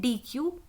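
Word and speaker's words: dequeue: हैं उसको बोलते हैं डी कू या डेक भी हम इसको बोलते हैं क्योंकि कहीं जगह स्पेलिंग लिखी होगी ई क यूई यह नहीं लिखा होगा ठीक जैसे एक सिंपल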